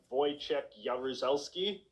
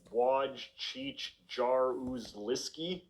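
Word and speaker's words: Jaruzelski: the dictator of Poland you pronounce his name like voy yareli but obviously just seeing his name in print doesn't communicate any of that by the standards of English pronunciation you'd think it should be something more like w cheich jar lisy simply seeing the word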